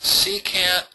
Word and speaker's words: secant: um C can time x okay that's that's pronounced secant of negx it's not it's not really times